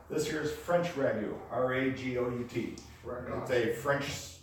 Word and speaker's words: ragout: no you're thinking brand-new same pronunciation is different spelling this year's French ragu are AG ODT they